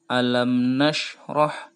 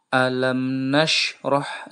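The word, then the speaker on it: أَلَمْ نَشْرَحْ: tebal bacanya alam Naswa alamnasroh coretan yang kedua itu huruf da atau huruf Qalqalah mantul jadi begini bacaannya alamnasroh lakasodrok sekali lagi alamnasroh lakasodrok Hai yang kedua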